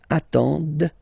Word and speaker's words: attendent: the plural form, ENT, but then you don't pronounce them. Ils attendent, okay, so remember you get to pronounce this, d at the end, okay.